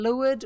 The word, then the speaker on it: leeward: Leeward or leeward, but pronounced leeward, is the away from the wind side.